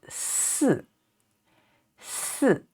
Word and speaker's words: 四: 三三 and this one 四 and yi, the fourth tone falling down. So 四四 it means number 4.